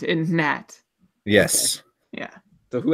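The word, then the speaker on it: Hnat: The H is silent in Nat.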